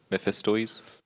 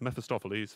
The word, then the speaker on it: Mephistopheles: Mephistoes? I'll give it to you. It's Mephistopheles, but yes, it's just a pronunciation question.